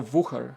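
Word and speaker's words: Wuher: Okay, guys, should I say Wooher with a W, like American W, or Wooher? I think Wooher is the correct pronunciation.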